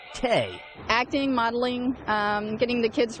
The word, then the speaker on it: THE: They go by the name THE, pronounced Tay.